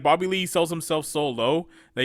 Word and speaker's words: Bobby Lee: introduce me um uh mispronounce my name uh bobby reed it's bobby lee he does that albers